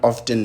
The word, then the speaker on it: often: the show at all because the word often does not exist. The word is often.